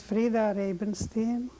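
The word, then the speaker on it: Frida Rabenstein: you state your name please my name is fra rabenstein what' you spell it for us f r f r i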